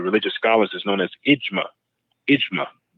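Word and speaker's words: إجماع: consensus of the religious Scholars is known as imma imma J M A imma that's what they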